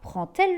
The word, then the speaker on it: prend-elle: Par contre, lorsque le verbe finit par un D et que l'on fait la liaison, il est prononcé comme un T. Exemple, elle prend le train. On dira prend-elle le train et le